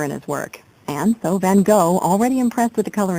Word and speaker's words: Van Gogh: Although most people refer to him as Van Gogh, the true pronunciation of his name is Van Gogh.